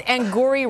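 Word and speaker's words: Angourie: They say it like it's like Maori, okay, you know?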